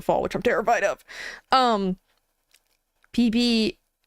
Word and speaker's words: Vivi: PB, the name Vivi would be pronounced PB.